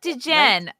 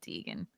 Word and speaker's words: Degen: My name is Degenerate like gambler, not a queer named Deegan. Okay. I said it wrong. Degen. I got it. Degen. Okay. I said Deegan.